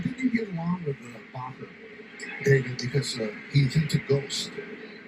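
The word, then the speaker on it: Bachar: New pitcher for the Marlins is Lake Barker. Rhymes with soccer. 30 years old, 3rd big league season. And the pitch is low to Ryan McMahon. I think you get along with Bacher, David, because he's into ghosts.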